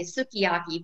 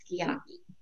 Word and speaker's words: sukiyaki: And if you've ever seen the word, it looks like you would say sukiyaki, but you pronounce it sukiyaki.